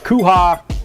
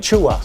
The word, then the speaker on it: Chua: be the canyon secondary is that kuha is that how you say his name Chua Chua 80 yard interception return they